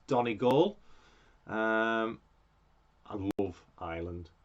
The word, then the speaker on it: Donegal: it's done a goal by the way donna goals island for those of you who don't know how to pronounce it it's donnie gall um i love ireland